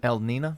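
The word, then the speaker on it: El Niño: El Nino.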